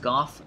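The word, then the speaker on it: Gough: Bow of the Dragon Slayers, led by Hawkeye Goff, one of Gwyn's 4 knights. Yes, it is pronounced Goff, not Go. We know this because in the DLC, Goff himself pronounces his name as Goff.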